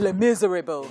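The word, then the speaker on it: Les Misérables: sang alive on set Les Miserables Les Miserables that's how you pronounce Les Miserables Miserables but it's French it's a rebel it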